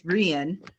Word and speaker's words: Rian: It's Rian. Rian, okay. Yes. It's pronounced the opposite of how it's spelled.